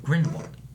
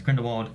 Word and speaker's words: Grindelwald: And we're here with a non-spoiler review for Fantastic Beasts: Crimes of Grindelwald. Or Grindelwald. Grindelwald. I always say Grindelwald, but in this movie they say Grindelwald a few times. Yeah. With a V.